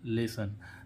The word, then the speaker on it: lesson: अब इसमें देखें लेसन, LESSON, लेसन, है ना।